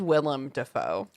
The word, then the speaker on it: Willem Dafoe: Defoe gets killed yeah respectfully I have to correct you it is Willem Dafoe will um those extra syllables are gonna come down Harry is like a really